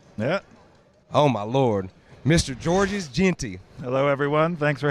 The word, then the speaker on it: Georges: Well, yeah, but I actually like the, because it's Georges, technically. Yeah, Georges. But I like that extra syllable when you go Georges.